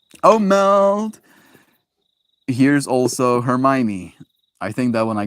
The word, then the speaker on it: Hermione: Here's also Hermione. I think that one I got right? Hermione? It was pronounced Hermione. Lots of kids thought it was pronounced Hermione.